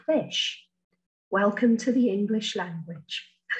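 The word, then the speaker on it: ghoti: then the word g-h-o-t-i is pronounced just like fish welcome to the English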